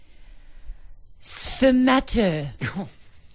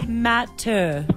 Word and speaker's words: sfumato: Sfumato. Are you trying to say these in an annoying way? No, that's how it's pronounced. I've had to Google it. Lisa. Sfumato.